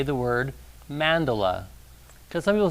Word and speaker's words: mandala: How do you say the word mandala? Because some people say mandala, I don't know, but the website said mandala, so that's what we're going with today. So what is a mandala?